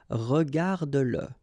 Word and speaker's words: regarde-le: Remember that if you've got, in some situations, the pronoun le, and if it comes after your verb, like in that case, then you will have to pronounce it.